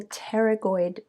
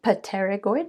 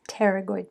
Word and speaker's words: pterygoid: blades are called the pterygoid plates the p is silent so you don't say pateragoid but it's pterygoid plates one year student